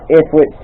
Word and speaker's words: ithwitt: Anyways, that's kind of what's going on ithwitt's channel. That's how you say my name, ithwitt.